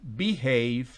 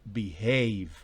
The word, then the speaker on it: behave: delante del h age significa que el acento bah en esa sílaba no es beehive sino behave en la segunda palabra